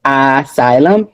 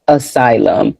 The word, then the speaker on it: asylum: The word the A which we're going to talk about is kind of like a schwa sound. So it's not really like a asylum. It's more so like a uh asylum.